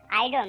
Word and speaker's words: idiom: আইডম নাকি ইডিএম? সমাধান উভয় উভয় সঠিক, তবে ইডিএম বলাটা উত্তম।